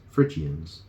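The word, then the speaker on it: Phrygians: city of the frians Frans that's spelled that is spelled p HR y g i a NS frians so on a journey through gordum the chief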